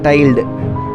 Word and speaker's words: tilde: This operator is pronounced as tilde.